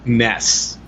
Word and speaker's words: NES: I think yeah yeah according to Japan the Nintendo and the NES actually is supposed to be pronounced Ness because we don't know